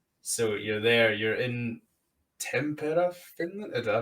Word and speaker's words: Tampere: You're in Tampere, Finland. Did I pronounce that right, or have I butchered that? Yeah, it's Tampere, yeah.